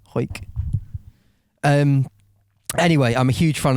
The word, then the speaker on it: Hawick: So I'd say Hawick, but she's said pronounced Hoyk. Hoyk.